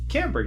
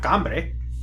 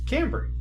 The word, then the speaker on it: Cambry: Cambry. Because I pronounce my name Cambry, not Cambre. It's Cambry.